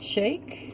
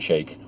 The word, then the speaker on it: Sheikh: Nations and other landmarks I said how you say it shake shake no no sounds like a drive-through or something right mmm new flavors